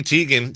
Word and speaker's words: Teigen: And recently, Chrissy Teigen said the pronunciation she grew up with is actually Teigen.